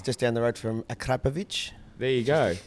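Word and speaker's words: Akrapovič: There's a guy from Slovenia who lives just down the road from Akrapovic.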